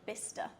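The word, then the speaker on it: Bicester: one I've got is bista like o-r-e-r okay b-i-s -t-o-r or t-e-r v-i-s-t-r-e I don't know surprisingly it's got C in it so it's b-i-c-e-s-t-e-r oh wow well okay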